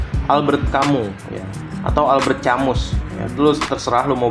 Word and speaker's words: Camus: kamu ya atau Albert chamus ya lu terserah lu mau baca gimana Tapi ya yang gua tahu cara bacanya itu adalah Albert kamu ya gua di gua